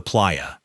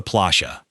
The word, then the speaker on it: playa: While the rest of Latin America says them as a Y, Argentines pronounce them as a heavy slushy sh. To a Mexican, the beach is the playa. To an Argentine, it's the plashia.